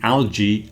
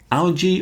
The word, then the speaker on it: algae: We were also discussing algae and seaweed. Algae or algae? It seems there are two pronunciations. The English one is more algae. Algae seems to be more American.